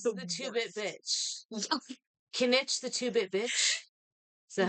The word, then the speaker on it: Kinich: Kinich the two-bit bitch. Is that how you Yeah, say his name? yeah, Kanich.